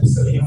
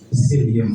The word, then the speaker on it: psyllium: Nah, ini bacanya dihilangin ya, P-nya ya. P-nya dihilangin. Jadi jangan baca Psyllium husk. Nah, usahakan baca Psyllium husk.